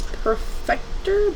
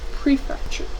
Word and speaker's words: prefecture: And then I believe this is Perfector, but I'm not 100% sure, so I'm just going to look up how to pronounce it again. Prefecture.